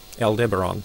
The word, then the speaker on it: Aldebaran: Let's just see how that's pronounced, if I'm pronouncing that correctly. Aldebaran. Aldebaran, there we go.